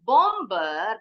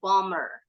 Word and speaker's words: bomber: Termasuk the doer, the person who does the activity of bombing the bomb, orang yang melakukan bomnya, bacanya bukan bomber because the B is silent, jadi bacanya bomber.